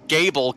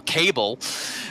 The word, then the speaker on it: Gable: I didn't bother Kevin when he was constantly calling Gable Cable earlier.